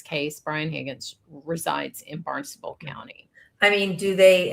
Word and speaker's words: Barnstable: about the fact that this was filed in Barnstable. Is that how you say it, Carrie? I don't know. Yeah, you got it. Barnstable.